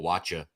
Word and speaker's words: Wacha: So, since just so you know, it's actually Michael Wacha. Since we're getting people's names right, he doesn't that's like. true. It's not Waka. He doesn't it's like Wacha.